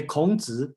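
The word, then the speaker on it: 孔子: And I just look at the chat, okay, and Charles asked me to pronounce how to say Confucius in Chinese. Okay, let's say Kongzi, and then that's the name, just a little bit.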